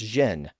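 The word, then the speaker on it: Gênes: In French the city of Genoa is pronounced as Xen.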